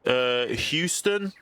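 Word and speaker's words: Heuston: Houston, because it's like Euston in London, so Houston station with a H, and it kind of runs.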